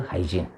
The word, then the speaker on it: Huygens: Dutch physicist Huygens, Huygen. Some teacher make pronounces Huygens, one and the same.